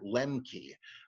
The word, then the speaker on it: Lemche: And he puts the whole Old Testament under this, that it may be that, and I believe Peter Lemke, I spell his name Lemche. He's a minimalist, and he